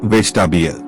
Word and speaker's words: vegetable: Vegetable. The middle E is not clearly spoken. It sounds like vegetable.